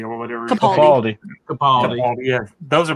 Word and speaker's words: Capaldi: with Baker and the I can always pronounce this. It's a holiday special, Peter right? Catapaldi or whatever. Capaldi.